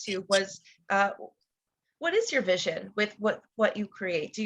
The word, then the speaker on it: Visio: So it's having that faith in yourself, and that vision that you put out.